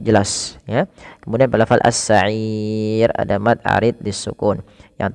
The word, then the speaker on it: السعير: Panjangnya boleh 2, boleh 4, boleh 6. Maka cara bacanya as-sa'ir 2 atau 4 as-sa'ir atau 6 harokat as-sa'ir.